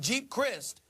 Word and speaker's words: Geep Chryst: an offensive coordinator and Jeep Crist I believe that's how you pronounce his name JD's GEEP Chryst you got it well he was